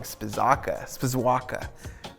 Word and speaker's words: Spizawka: Spizawka. I was saying it wrong. Spizawka.